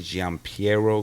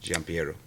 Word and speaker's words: Gian Piero: but my dad name is Giovanni Gian Piero Gonzalez so no one can ever pronounce so mouthful mouth full you're like triple